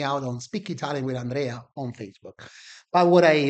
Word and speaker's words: Andrea: We say, for example, my name is Andrea, right? But it's pronounced Andrea, right? The, Mm, the R's rolled.